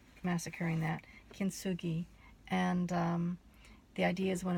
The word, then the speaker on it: kintsugi: and I wrote it down so I wouldn't mispronounce it and it's called kintsugi hopefully I'm not massacring that kintsugi and the idea is when I when a